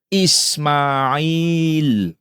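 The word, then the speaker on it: إسماعيل: Ismail di situ setelah huruf mim tidak boleh ada alif. Sedangkan kalau ditulis di luar Quran, silakan ditambahkan alif. Tapi kalau di dalam Quran, mim tanpa boleh ditambahkan alif. Tapi bacanya Ismail.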